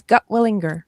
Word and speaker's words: Gutwillinger: Okay, tell the world your last name cuz I butchered it and I apologize. You did not. You did very well. It's Gotwilinger.